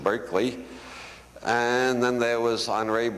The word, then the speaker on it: Berkeley: city is named only we don't pronounce it Barkley anymore we pronounce it Berkeley and then there was